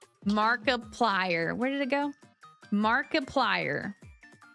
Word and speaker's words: Markiplier: Markiplier. Like a multiplier.